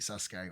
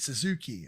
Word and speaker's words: Sasuke: I'm going to guess this is the first time you've seen the Great Sasuke, or Great Suzuki, as they keep pronouncing it.